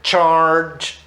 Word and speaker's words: Charge: Não é charge, é charge, ok? Charge, a pronúncia.